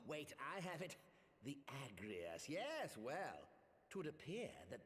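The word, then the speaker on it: Agrius: The Agrias. Yes, well, 'twould appear that the Garleans Correct, that is how you say that name.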